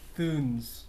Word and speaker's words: Thunes: Le Roi de Thunes. Le Rod de Thunes. Thunes. Yeah, that's how you say it.